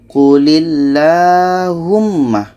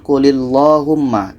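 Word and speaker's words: قُلِ اللَّهُمَّ: Allah atau lam jalalah ketika ada huruf sebelumnya berbaris di bawah itu dibaca tertulis jadi kita baca qulillahumma dibaca lah bukanlah Bukan qulillohumma tapi kulilahumma kita panjangkan 2 harkat seterusnya dalam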